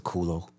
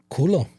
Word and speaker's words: culo: cul is the bottom, or in some languages, the culo. How do you say your butt in Spanish? Culo.